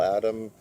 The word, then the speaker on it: Adam: been doing the Bill Adams routines and the Bill Adam routine. I always like to pronounce his name with an S.